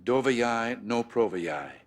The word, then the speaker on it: Doveryai, no proveryai: Though my pronunciation may give you difficulty, the maxim is: "Doveryai, no proveryai!